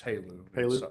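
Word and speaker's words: HALEU: uses h-a-l-e-u fuel yes how do you pronounce it is there a is it a acronym it's halo high assay low enrichment uranium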